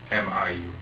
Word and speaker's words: Miu: M-I-U. How do you spell, or how do you pronounce that?